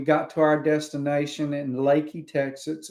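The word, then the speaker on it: Leakey: Uh we got to our destination in Lakey, Texas. It's like southwest Texas, still in the Hill Country. It's spelled like leaky, like a leaky faucet. Uh, L E K E Y instead of just Y.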